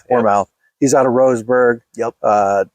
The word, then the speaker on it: Warmouth: How do you pronounce his last name? Warmouth.